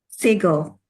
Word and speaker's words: seagull: and how many syllables do we Single. have Two. Two. which one Two. is stressed The first one.